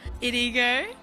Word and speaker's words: IDEGO: I'm joined by Christian hip-hop producer, IDEGO. How are you, bro? There we go. I'm good. You got the pronunciation So good.